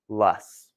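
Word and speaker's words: loess: ah it does not we call this lus that's this word right here l o SS pronounced lus and it can get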